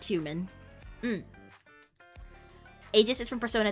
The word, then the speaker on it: Aegis: The game pronounces it Aegis, but technically all are correct. I feel like I'm gonna say Aegis.